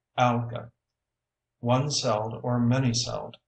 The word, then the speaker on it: alga: a group of plants singular alga pronounced ala one cell or many